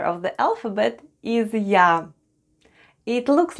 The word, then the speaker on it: Я: And the last letter of the alphabet is Я. It looks like an English letter, but flipped around. Я makes sound Я. Try saying English Ян, and you get sound Я.